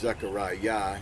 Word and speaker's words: Zechariah: i a h i a h but it's pronounced zechariah and more properly y a h it's a